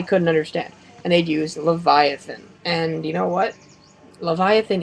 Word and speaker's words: Leviathan: Ackles does and finally it's supposed to be Leviathan but they've mispronounced it and it's lava teen now or Leviathan anyways